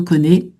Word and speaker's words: connais: Et je me connais, verbe connaître, donc conjugaison, hein, je me connais, qui nous bouleverse, hein, sans prononcer le S.